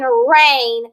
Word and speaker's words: reign: Here they're making long A, and the G and the N are both silent, like in the word rain. Okay? This is the rain, like a king can reign over the kingdom.